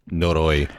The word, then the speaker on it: Noroi: I'm not Japanese. Noroi? Noroi? Noroi. Thank you so much, Corey. What he said, it's Noroi.